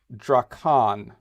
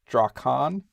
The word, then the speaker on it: Drakan: general weren't that great so i know it's drakkon that's how this game is spelled d-r d-r-a-k-a-n drakon i'm really big and amusing and sharing it